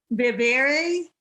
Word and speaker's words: viviré: Me imagino que viviré en España.